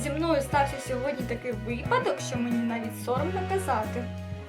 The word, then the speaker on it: випадок: наступний приклад в нас буде випадок нагло само на літеру ми не кажемо з вами випадок ось наприклад зі мною стався сьогодні такий випадок що мені навіть соромно